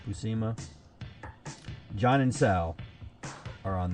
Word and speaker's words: Buscema: I always had problems pronouncing his name. Buscema.